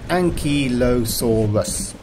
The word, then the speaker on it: Ankylosaurus: a big one and although it looks like a difficult word to say it's not for dinosaur you say it like this Ankylosaurus don't forget to check